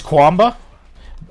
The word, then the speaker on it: Quamba: He kept calling it. It's Quamba.